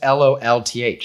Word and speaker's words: Lolth: It's just LOLTH. LOLTH. Okay. Yeah, like lol. Lol.